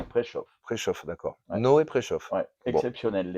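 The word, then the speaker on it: Preszow: un texte prau prau ça s'écrit P r e s Z o W mais ça se dit préchauff préchaue d'accord no préchauff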